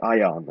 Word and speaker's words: ajan: But it's basically I and an, if you think more closely, but it's pronounced like ayan, okay?